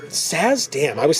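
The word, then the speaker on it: Sazh: How do you pronounce his name? Saz. Saz.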